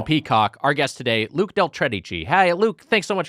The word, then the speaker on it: Del Tredici: for us is that your name rhymes with cheddar cheese Del cheddar cheese yeah